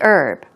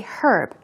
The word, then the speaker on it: herb: you will hear herb herb okay I say herb but people let's speak with a British accent will most likely say herb it's your choice whichever you want to use let me go